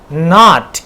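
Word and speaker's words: knot: Not.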